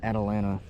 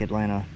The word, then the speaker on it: Atalanta: I actually live here in Rogers, but this lake is named Lake Atalanta, but you'll hear people pronounce it like I always pronounce it, Lake Atlanta.